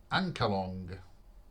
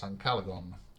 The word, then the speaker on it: Ancalagon: So it's Ancalagon. Ancalagon the Black, which I have always pronounced Ancalong. But no, it's Ancalagon.